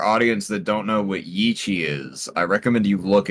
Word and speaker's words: Yi qi: To the members of our audience that don't know what Yi Qi is, I recommend you look it up. It is spelled y i space q i.